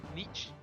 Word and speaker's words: Nietzsche: were because like they shared a fascination with Niche with their husband I never feel like I pronounced that right Nietzsche yep I have five Battle Points what should